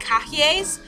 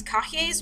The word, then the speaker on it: cahiers: prepare what are called cahiers. It doesn't look like that. That's not how it's spelled.